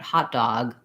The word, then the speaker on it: hot dog: The length of that first syllable is stressed, and then the or the est really short, hotter, but hot dog, stress on both.